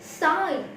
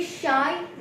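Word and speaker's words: sigh: लग रहा है, लेकिन ये शाई नहीं है, क्योंकि इसकी प्रोनाउंसिएशन मीनिंग डिफरेंट है। देखिए, वो होता है शाई और ये है साई, कुछ अलग लगा ना।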